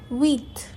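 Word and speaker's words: huit: 8 वीथ। Again यहाँ पर H silent है तो वीथ होना चाहिए, लेकिन जब हम बोलते हैं तो एक व की साउंड आती, तो वीथ।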